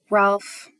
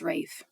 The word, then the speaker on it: Ralph: 820 squad- squadron's commanding officer Lieutenant Commander Ralph Wykes Snid That's probably not the right pronunciation. I don't know if it's Ralph or Rafe. Usually in Britain it's Rafe.